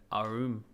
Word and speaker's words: arm: He pronounced it arum.